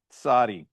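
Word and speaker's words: צדי: It's you make the T sound before the S sound as you say the name of the letter. Okay? Sadi.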